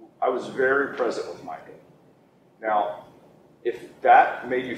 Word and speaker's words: Micah: Micah. How do you spell that?